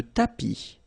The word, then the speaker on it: tapis: Le tapis. Remember final S not pronounced. Le tapis.